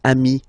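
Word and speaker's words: amis: But then technically you pronounce it the same way. So singular form amii plural form you add this s but it's amii as well.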